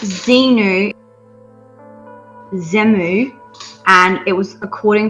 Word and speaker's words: Xenu: seven space okay Cowboy Bebop ripoff okay it's pronounced Xenu xemnu and it was according to the Scientology